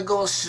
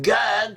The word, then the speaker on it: Gad: In biblical Hebrew, the name Gad can also be pronounced as Goth. The A becomes an O sound, and the Dalet is pronounced more like a La.